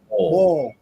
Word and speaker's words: boil: it right, a seafood ball, is that how you say it in Louisiana? Anyways, There's no I in it. It's BOL. exactly. Bowl. Yeah. Bowl.